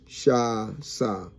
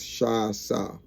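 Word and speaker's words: שסה: The word pronounced shasa. Shasa. The original word is shasa. Shin, sin, and hay.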